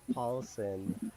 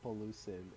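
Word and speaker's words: Paulsen: my favorite is rob paulson finally i said no don't you mean raw pollution in case you haven't know uh spider kevin uh i voiced mispronouncing paulson's name i always called rob pollutin it was in the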